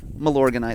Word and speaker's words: Milorganite: It's just so everybody can say it right. Milorganite. A lot of guys call it different things. The Lawn Care nut just calls it Milo to make it easy.